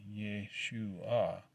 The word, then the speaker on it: Yeshua: Yeshua, pronounced Yeshua, to avoid the obvious and convicting parallel.